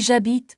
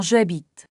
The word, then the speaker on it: j'habite: Notez l'ision. On dit j'habite et non je habite.